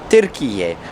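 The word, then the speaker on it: Türkiye: So like it's actually called Turkiye, but I know in our previous videos we have mentioned it wrong.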